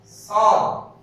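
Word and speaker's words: ص: এটার উচ্চারণ হবে সাদ। এটার উচ্চারণ হচ্ছে সাদ। শেষে একটু কলকলা প্রতিধ্বনি সৃষ্টি হবে, সেটা হচ্ছে এই অক্ষরটা বলতে সেটা প্রতিধ্বনি সৃষ্টি হবে।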